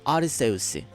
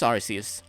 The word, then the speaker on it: Arceus: by the way did you know it is pronounced as Arceus because I always said Arceus then I Acclaim